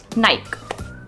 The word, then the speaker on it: Nike: of my favorite brands, of course, and that's Nike. Nike. That's how a lot of people pronounce it, right?